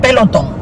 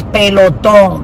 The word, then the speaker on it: Peloton: They put Peloton because, of course, people that don't speak Spanish, they pronounce it like that. But actually, it's Peloton because it's a Spanish word.